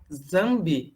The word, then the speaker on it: Nzambi: a organização nessa sala já zambi é assim a pronúncia aos céus Eduardo Mendes